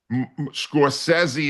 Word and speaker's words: Scorsese: I thought you were mispronouncing I thought you were mispronouncing his name. Scorsesei is the way he pronounces it.